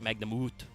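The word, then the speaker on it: Magnamut: kind of uh the the original Japanese is Magna Muto so it is a little bit of a long but it's it's a long u sound so it's Magna moot yeah Dragon Synergy to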